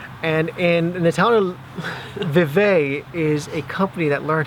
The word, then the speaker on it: Vevey: And we are now in a town called Vevey. Is that pronounced right, Avalon? Yep. Vevey, Switzerland.